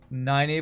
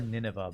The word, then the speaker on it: Nynaeve: I used to call her Nineveh, but I think it's supposed to be Nynaeve. It's supposed to be how you're supposed to pronounce that. Yeah, Nynaeve's pretty a badass.